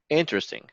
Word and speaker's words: interesting: yes ting interesting no interesting interesting so we're stressing on the first syllable whooshes in interesting okay so basically it's very